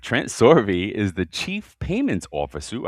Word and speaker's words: Sorbe: Trent Sorbet, if I'm am I pronouncing that right? Long E. Sorby, but they're close. Sorby. All right. Trent Sorby is the chief payments officer.